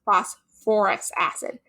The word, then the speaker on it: phosphorous acid: so this one becomes phosphorous acid and it's only really with anything that has the phos beginning so phosphate phosphite that you need to add that or okay so something else